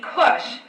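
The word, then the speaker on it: כוש: ethiopia wherever you read kush or ethiopia in the bible they are translating the same exact hebrew word which is pronounced kush i'm not sure why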